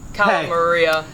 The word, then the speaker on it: Calamaria: from working with Calamari, how she wants to be pronounced she goes now. Back and forth with Calamari or Calamaria, so I just asked her. Now she changed it on me. Calamaria.